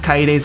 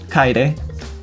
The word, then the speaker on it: Kaede: I mean, the biggest egregious thing is that you mispronounce Kaede's name every chance you can get.